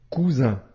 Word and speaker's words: cousin: son ce autre exemple cousin ici la lettre S se trouve entre deux voyelles la lettre U et la lettre I la lettre S ici se prononce bien comme le son ze cousin maintenant si on veut